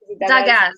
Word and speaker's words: Dagaz: How do you pronounce it? Daz. Dagaz. Yeah. Yes. I pronounced it right.